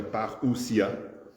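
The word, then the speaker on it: παρουσία: Alors en anglais he alors le mot grec paria prononcé par j'ai j'ai dans la prononciation j'ai j'ai je n'ai pas mis le r ça doit être paria euh est une nom qui signifie une venue.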